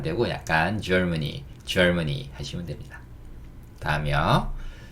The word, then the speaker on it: Germany: 근데 이렇게 가만히 들어보시면 이것도 재밌는 얘기긴 한데 Germany 이러면 이게 약간 이렇게 들려요. 젊은이. 이봐 젊은이 이렇게 할 때 Germany.